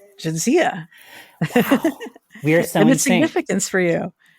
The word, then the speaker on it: Jadzia: Like it is from Eastern Europe, but it's pronounced Jadzia, not Jadzia.